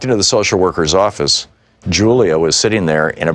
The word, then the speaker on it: Julia: including a pair of sequined high-top sneakers that Julia had picked out. I began to speak to Julia, pronounced Julia, in Spanish.